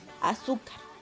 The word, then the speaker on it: azúcar: Palabras graves. Y son aquellas en las que el acento recae en la penúltima sílaba. Por ejemplo, azúcar. Penúltima.